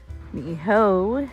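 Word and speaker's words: Niʻihau: Now, as you look out into that sky, Ni'ihau is out there. That's proper pronunciation.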